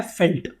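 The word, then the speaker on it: veld: मतलब होता है फील्ड लेकिन इसको प्रोनाउंस किया जाता है फेल्ट ठीक है इसको वेल्ड नहीं बोलते मैंने आपको ऊपर से बोला कि इसको वेल्ड वेल्ड बोलते हैं वेल्ड नहीं है this is known as फेल्ट ठीक है मैं जानबूझ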